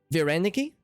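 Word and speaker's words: вареники: Vareniki? But you have to roll your R when you say it.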